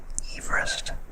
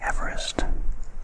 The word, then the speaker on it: Everest: and I believe that George Everest is indeed pronounced Everest r other than Everest it was a fact